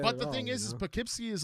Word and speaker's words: Poughkeepsie: like the word the the town Poughkeepsie that's pronounced totally different totally different totally different like I would have said like Poff keepsie right right and it's not like that but the thing is